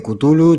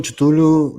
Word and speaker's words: Cthulhu: Yo digo Cthulhu, tío, pasa que hay gente que dice Kutulu, Chutulu, yo qué sé. Cthulhu he visto yo. Cthulhu también. La gente dice Cthulhu, sí.